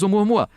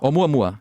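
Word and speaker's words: ʻOumuamua: And that was Oumuamua.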